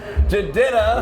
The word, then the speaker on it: Jidenna: It's JR at this year's U92 Toyota Summer Jam, and I have a very classic man with me right now, Jidenna.